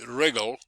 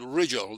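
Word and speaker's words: Rigel: I think I've heard people pronouncing it wrongly. Regal, but anyway, it's called Riggel.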